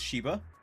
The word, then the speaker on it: Z6hiba: Anybody that hasn't watched me before or you're new to this, my name is Shiba. pronounced Z6hiba. That's how it's pronounced. Or Shiba is completely fine.